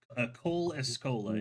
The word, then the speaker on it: Cole Escola: Cole Escola is his name. The last name is spelled E S C O L A.